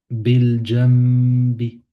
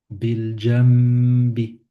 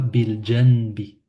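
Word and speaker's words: بِالْجَنْبِ: Euh, bil jambi, bil jambi. Et non pas bil janbi.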